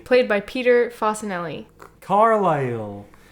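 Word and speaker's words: Carlisle: played by Peter fanelli carile like in Cumbria and and I think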